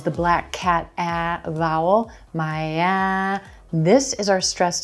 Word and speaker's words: Miami: second syllable is the Black Cat a vowel Maya this is our stressed syllable so we're gonna stretch that vowel sound